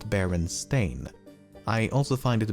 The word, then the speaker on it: Berenstain: this segment multiple times as I found myself pronouncing it Berenstein even when I should be saying Berenstain, and I've never even heard of the franchise before making this video.